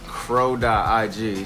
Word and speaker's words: Chro: It's crow.ig, CHRO. .ig. Crow, like the crow, like... It's pronounced like a bird, yeah. But it's not spelled like it.